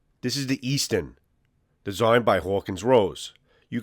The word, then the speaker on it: Eastenn: Eastenn. It's not Eastern, it's Eastenn, which stands for the Eastern Tennessee. The origination of where RCB practices is Maryville, Tennessee. So the pronunciation is Eastenn, T-E-N-N.